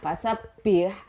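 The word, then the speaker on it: فسبّح: begitu ya Va sabpih hack Whatsapp ya Mbaknya fasabbih Mbaknya itu tasbit makanya membacanya pun harus double Mbaknya double seperti ada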